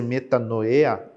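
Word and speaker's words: μετάνοια: arrepender-se no grego bíblico Aqui nós temos uma pronúncia que deve ser metanoya que significa pensar de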